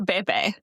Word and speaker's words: Baby: And that feels so weird to say out loud, "Babe, is it BB or Baby?" No, it's baby. I was pronouncing it as BB cuz that's what it looks like.